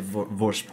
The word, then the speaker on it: Vorsprung: And, like, it's German, so you'd pronounce it Vorsprung, or at least you'd make an effort to make it sound German. Vorsprung yeah.